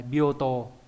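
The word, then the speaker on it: 病棟: là cái chữ đây, bioto. Bioto, tô đọc có trường âm nhá.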